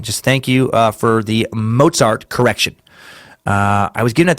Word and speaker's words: Mozart: In the Einstein Timesuck, you pronounced Mozart incorrectly. I swear I'm not being picky and asking for the perfect German pronunciation. The Z is pronounced TS.